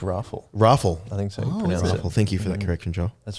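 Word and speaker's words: Raffel: So you need a breath after the excitement of Kanishka Rafael, the Bish. I think it's Raffle. Raffle. I think so. Oh, Pronounce it.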